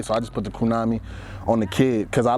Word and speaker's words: Krewnami: So Krewnami rhymes with what? Tsunami. What is a tsunami?